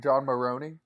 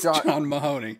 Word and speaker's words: John Mahoney: the you did do is it not john john maroney no it's not it's john mahoney john mahoney who am